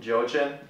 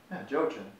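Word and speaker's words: Joaquin: gonna be her hurricane yeah category 4 hurricane joechip um that's gonna be a that's not how you pronounce it Jochen okay hurricane joachim yeah everything Jojen to me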